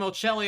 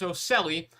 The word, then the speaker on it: Ocelli: I've been calling him Ocelli all night. It's Ocelli. So a quick pronunciation correction there.